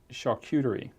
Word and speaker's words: charcuterie: here's the $64,000 question and it's can I pronounce it correctly what is charcuterie yeah you did good did I do good